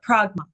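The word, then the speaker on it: πρᾶγμα: um krma yeah uh pragma pragma pragma yeah wait yeah sorry pragma yeah very good okay so it would be more like an r instead because I was I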